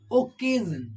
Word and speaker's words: occasion: okay in the spelling then Double C will be pronounced as as Ka we can see an example for this like occasion What occasion as we